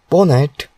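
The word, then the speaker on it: pwnat: PWN pronounced as ponet is a tool that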